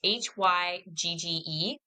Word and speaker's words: hygge: Okay, so it's Hygge. So it doesn't spell the way that, but and I'm probably mispronouncing, but I think hygge is the way you say it.